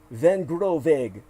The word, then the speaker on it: Vangroenweghe: And then you had that man named Daniel Van Groveg, that's a Belgian name. So his name is spelled Vangroenweghe.